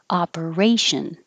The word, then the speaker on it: operation: versatile or versatile operation the first o sounds like ah operation this one apparition the